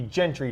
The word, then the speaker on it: Gentry: It's a hard G. Gentry, Tom. Gentry, sorry.